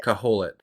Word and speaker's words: Kohelet: You know, I'll do my Google searching just to see if is it Colette or how do you how do you say Kaholit? Kaholit.